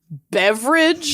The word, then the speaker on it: Beveridge: Beveridge? His last name is Beveridge. Like, It's not spelled that's the the same. family name? It's not spelled the same, but that is absolutely how you pronounce it.